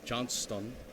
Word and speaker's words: Johnston: rick and cindy johnson johnston all right you gotta pronounce the heart it's a hard t john stone viper's the left hay's